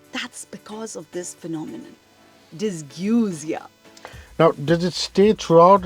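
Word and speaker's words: dysgeusia: phenomenon actually has a very interesting name it's pronounced dysguzia sounds very cute it is correct and it's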